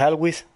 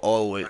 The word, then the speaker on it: always: ¿Qué es Alwis? Always, no sé, weón. Ah, ¿Para qué es eso, always, pues? all, you gotta pronounce the all, always, Para que ah.